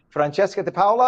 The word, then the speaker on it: Francesca Di Paola: Good morning, and I'm hoping, is it Francesca Di Paola? Am I pronouncing it properly in Italiano? Absolutely, that's correct.